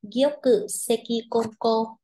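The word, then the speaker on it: 玉石混交: Chúng ta đọc là Gyoku Sekikonko.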